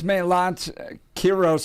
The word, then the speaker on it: Melat Kiros: That's Melat Kiros, and please correct me if we're pronouncing it incorrectly.